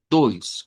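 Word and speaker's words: dois: Pero creo que es más fácil que lo veamos así con una i corta, doys, con el ditongo hoy, doys.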